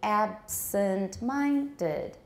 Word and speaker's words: absent-minded: citation form she's very absent-minded absent you can still hear the other stress on ab absent-minded she's very absent-minded